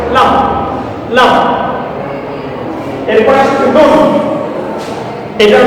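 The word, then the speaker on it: لام: দেখো উচ্চারণ লাম, লাম।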